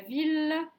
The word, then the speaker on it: ville: villle famille guy la ville lille mille dans ces trois mots le graphe m i ll se prononce il est donc pas comme